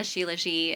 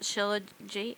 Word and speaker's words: shilajit: Yeah, and then I take chalk, which is a shilajit and ashwagandha. Is that how you say it? Shilajit?